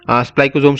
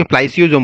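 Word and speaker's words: spliceosome: remove okay जो भी स्पाइकोजोम्स होते हैं ना स्पाइकोजोम बोल रहा हूं मैं यहां पे ठीक है तो गलती से थोड़ा सा गलत प्रोनाउंस हो गया था स्पाइसियोजोम्स ओके स्प्लाइसियोजोम बोलते हैं हम इसे ठीक है द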